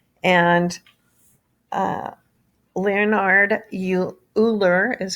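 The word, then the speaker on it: Euler: the natural base e and uh leonard you uhler is how you pronounce his last name it's danish who lived in 1707 to 1783.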